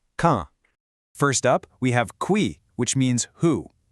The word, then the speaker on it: qui: First up, we have qui, which means who. Listen to that pronunciation. It sounds a lot like the word key in English, just with a slightly softer K sound.